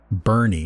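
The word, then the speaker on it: Boerne: Bournes. Bernie, is that how it's pronounced?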